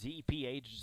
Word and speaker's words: Zeph: It's Z-E-P-H, Zeph, and then Hoffpower. Not spelled like it sounds.